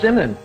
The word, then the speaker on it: Zinman: So, welcome to the show, Zinman.